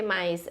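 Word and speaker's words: 犸: radical aqui, e o mamute se fala ma, por isso tem um elemento fonético ma aqui, tá? Não quer dizer que seja um cavalo, não, tá? É só por causa do som, tá bem?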